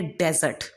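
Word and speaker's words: dessert: एक है डिज़र्ट और एक है डेजर्ट.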